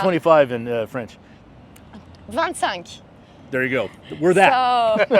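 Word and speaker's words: vingt-cinq: amazing how do you say 25 in French van sank there you go we're that so yeah we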